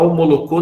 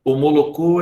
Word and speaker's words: Omolocô: para poder ser aceito a omolocô não omoloko ela vem de uma